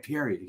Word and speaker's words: Pierri: if you came on go it's Perry right Perry yeah yeah I know you nailed it my uh my uh